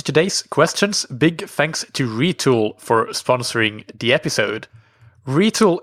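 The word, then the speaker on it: Retül: Retool is spelled RETUL, and I've linked to the URL in the episode description.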